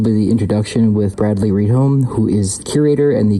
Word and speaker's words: Rydholm: Is that how you say it? Yep. Bradley Rydholm or Rydholm. Rydholm. Okay, Rydholm.